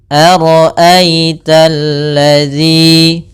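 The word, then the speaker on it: الَّذِي: Ara'aita alladzi. Kemudian pada lafal alladzi ada alif lam syamsiyah yaitu alif lam yang kita tulis tapi tidak kita baca lamnya. Tapi sehingga ini langsung ke huruf lam yang ketiga.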